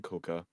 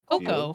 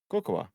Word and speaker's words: cocoa: Brings comfort and warmth to your showers with indulgent molten coca aromas and boasts of Coca? spicy cinnamon. Coca? Yes. Cocoa. C-O-A. COA? That's Coa. C-O-C-O-A. Yeah, Coco. Coa. The A is silent. Cocoa. Coco. Huh?